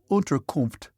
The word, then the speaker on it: Unterkunft: "Unterkunft," Pierre repeated.